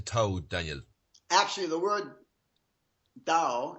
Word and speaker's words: Tao: Actually, the word Tao, it's pronounced with a D actually, is it means in Chinese, it means way or path.